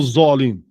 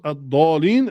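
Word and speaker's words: الضالين: There's no zalin. This is not from any of the qira'at to pronounce ad-dalin as zalin in the prayer.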